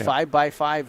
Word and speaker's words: VxV: right vxv vxv Solutions vxv Solutions 5x five though is how you pronounce it thank you for being